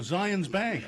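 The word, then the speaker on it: Zions Bank: which is what uh it rhymes with uh Lions rank oh Zion's Bank huh yeah you didn't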